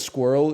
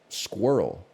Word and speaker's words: squirrel: Is it possible that squirrel is the longest one-syllable word? Squirrel. It's 8 letters long. 1 syllable?